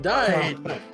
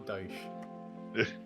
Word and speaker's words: Dyche: Please, it's Sean Dyche. Yeah, please stop pronouncing Please Sean Dyche wrong.